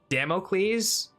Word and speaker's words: Damocles: Like the Greek king. Hang on. I'm gonna I'm gonna look up the pronunciation of this. Demo. Is it democles? Damocles. Damocles. Okay. Damocles. That's how it's pronounced.